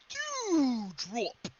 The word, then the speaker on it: Doudrop: You got to say it right. It's Doudrop.